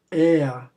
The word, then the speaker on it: er: Entre aspas aí a pronúncia, er.